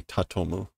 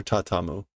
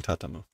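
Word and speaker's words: 畳む: I think she's just mispronouncing tatomu. Or tatamu. Yeah, she's just mispronouncing tatamu.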